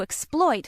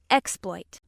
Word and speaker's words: exploit: The other pronunciation of word nine is exploit. Exploit. This pronunciation is used when word nine functions as a noun meaning a feat or deed.